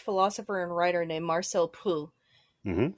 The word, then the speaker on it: Proust: There is a French philosopher and writer named Marcel Proust. Mhm. Proust, if you want to use the English pronunciation.